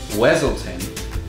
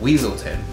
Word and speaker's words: Weaselton: at one point and Judy calls him Duke Weselton and he says it's pronounced weaselton and in Frozen it's the inverse of that